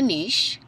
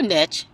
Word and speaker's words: niche: decide and practice within a niche or niche depending on the side of the world your front is how you pronounce it then you'll need to